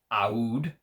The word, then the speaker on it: Aoud: because he says that's how they say it in the middle east ahud is how he says they say in the middle east we'll just say majestic ood parfum um i've seen interviews